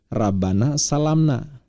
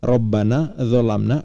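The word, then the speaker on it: ربنا ظلمنا: makanya dia bacanya tadi kalau kita dengar Rabbana salamna padahal yang tertulis di Quran versi tulisan Arab bukan Rabbana salamna gak dikenal bacaan seperti itu tapi Rabbana dolamna anfusana dan itu doa yang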